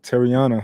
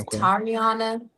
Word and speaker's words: Tiana: Uh, Teriana, how's your day going? Hi. Uh, my name's good. Okay. I'm getting better at helping people pronounce my name. So, it's Tiana. Toriiana.